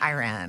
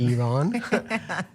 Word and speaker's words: Iran: Iran. People, not Iran. Iran.